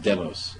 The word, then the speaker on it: Demos: New York City which is which is properly pronounced demos at least in the UK where it originated